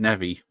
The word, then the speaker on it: Neve: go or is it nevi I could never i' never heard it back in the 90s I used to call apparently it's pronounced Nev yes I went from